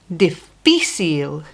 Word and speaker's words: difícil: The word for difficult is difícil, and the strong part of the word is fi.